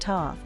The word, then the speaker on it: Thoth: many of us followed thoth pronounced toth to the land of